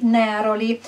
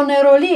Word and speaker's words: neroli: con il nome di neroli demolì o neroli a seconda se lo pronunciano in francese oppure in italiano ma sono corrette entrambe le pronunce il suo nome viene